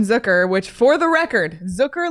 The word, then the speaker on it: Zucker: which for the record Zucker like Booker Zucker rhymes with Booker yep so that is